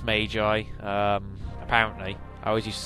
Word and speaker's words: Magi: Yes, it is pronounced Magi. Apparently. I always used to say Maggie, but isn't that the Simpsons character?